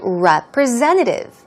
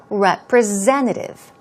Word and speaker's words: representative: Moving on to representative. Here we go. It's S-E-N, but it's pronounced with a Z sound. Z. Representative.